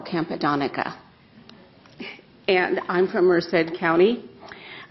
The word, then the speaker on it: Campodonica: Capodonica, followed by Mr. Daniel Kraus. And then finally, last speaker is Karen, I believe it's Chappelle. My name is properly pronounced Campodonica, and I'm from Merced County.